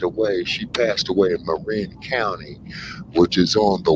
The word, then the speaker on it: Marin: go on the other side there you're in Marine County or Marin County as they call it but it's pronounced uh Marin and that's where Vish Shakur